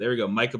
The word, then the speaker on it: Micah: And then it's like Minka Potter. Like, it's Micah.